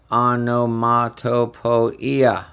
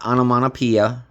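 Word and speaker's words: Onomatopoeia: And yes, that is the proper way to say it. Anomato poeia. Not anamanopia, it's anamanopoia.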